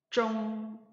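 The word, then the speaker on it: 中: 이 중국 할 때 중자 역시 자음과 자음에 해당하는 성모와 모음에 해당하는 운모가 결합해서 쫑이라는 발음을 형성하였고 거기 위에 일성 성조 표시가 되어 있으니까 일성으로 발음을 하면 쫑 이렇게 발음하시면 되겠습니다.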